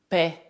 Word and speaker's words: paies: Assim, se escrever como I, deve dizer tu paies.